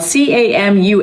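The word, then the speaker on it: Camus: This is his last name is spelled C A M U S but it's pronounced say it with me K Camu.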